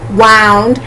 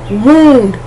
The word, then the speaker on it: wound: Like that O-U is pronounced ound, wound.